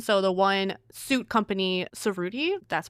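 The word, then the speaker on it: Cerruti: And so the one suit company, Serudi, that's pronounced right.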